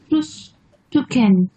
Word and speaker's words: Frühstücken: এটার উচ্চারণটা করবে হচ্ছে মেঘলা, এটা কি? Frühstücken.